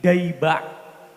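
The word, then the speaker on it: Dayba': adalah Maulid Diba Maulid Diba ini sebetulnya ejaan yang benar itu bukan Diba tapi daba karena penyusunnya Maulid Diba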